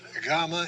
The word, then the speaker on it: gamma: on the main line remember that gamma is g as the g as in got but if it has an e sound after either a short e or a long e and we'll see what they are in just a moment it will have a y sin as in yet so either g as